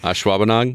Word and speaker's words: Ashwaubenon: years to have sir Troy get me to pronounce ashwauben I still can't do it Ashwaubenon that one in Mukwonago I've never heard of